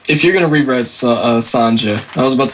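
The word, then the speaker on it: Sonja: pronounce it Cody uh I believe it's Sanja unless you are Spanish or whatever then it's Sonia yep number 62 She Devil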